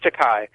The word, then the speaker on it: Takei: George Takei. Pronounced Takei.